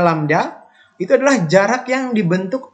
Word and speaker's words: lambda: Ini bacanya lambda.